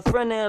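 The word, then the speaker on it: Fresnel: sometimes on picket fence it's on the FR light the S is silent was a French Lighthouse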